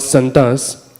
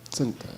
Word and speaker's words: Sant: Santa, okay. Premanjana. Not Santa. No, Sant, I said. S, pronunciation for S, yeah. Sant only.